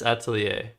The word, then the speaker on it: atelier: Yeah, it's Atelier. I like pronouncing it 8 Lear though.